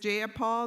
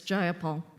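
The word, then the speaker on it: Jayapal: you agree with Miss ja Paul that there was no takeover it was just if you're gonna say my name please say it right it's jaia Paul jaia Paul do you would you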